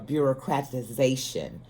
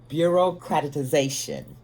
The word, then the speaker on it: bureaucratization: for you to understand the actual correct uh pronunciation of uh bureaucratization bureaucratization bureaucratization uh bureaucratization is uh formalization it's really